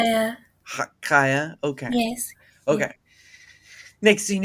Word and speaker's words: Chaya: Kaya.